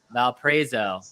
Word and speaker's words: Valparaiso: I'm sorry I still can't pronounce the city that we were at. But Valparaiso.